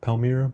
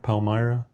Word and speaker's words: Palmyra: I I think that's how you say it. Palmira. Palmyra.